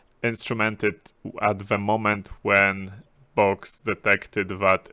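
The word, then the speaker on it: Bochs: an operating system Windows in this case in box box being B um CSH I I or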